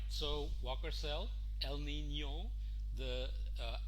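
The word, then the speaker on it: El Niño: figure it out but you should remember to pronounce it properly as el nino we saw this part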